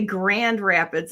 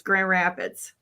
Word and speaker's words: Grand Rapids: Okay, so we don't say Grand Rapids. It's Grand Rapids. Every time. As Grand it's spelled there. GRRAPIDS. Yeah, native Michigan speaker doesn't say Grand Rapids. It's way too much work, people. Our lips will freeze together.